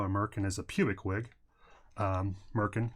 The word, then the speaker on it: merkin: as a pubic wig Merkin rhymes with gherkin and I think that